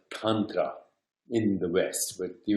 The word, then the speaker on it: Tantra: to introduce three terms Tundra or what is called contra in the West with the original and the original pronunciation is tundra like munnetra like young drop so tongue grah grah